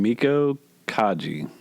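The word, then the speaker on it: Meiko Kaji: The release of Lady Snowblood, directed by Toshiya Fujita, starring Miko Kaji. Think that's a good way to pronounce her name?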